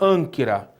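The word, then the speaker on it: ἄγκυρα: Agora, detalhe, o gama, ele está acompanhado pelo kappa, né? Um gama seguido de kappa. Então, você vai ler com som nasalado, ânquira.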